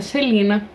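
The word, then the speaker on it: Celaena: Tive que assistir a entrevista da Sarah J. Maas para saber pronunciar o nome dela, mas é Celina.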